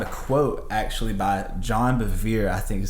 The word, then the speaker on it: Bevere: And something that we found a quote actually by John Bevere, I think is how you pronounce his name.